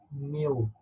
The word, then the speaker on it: mu: mean okay we did not this guy by mu this is pronounced like just new this is one week